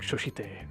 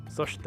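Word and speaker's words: そして: It's a lot of it is I think I said like shoshite or whatever. It's soshite or some shit.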